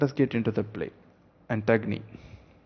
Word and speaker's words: Antigone: get into the play antagni as it is rightly pronounced so plot overview i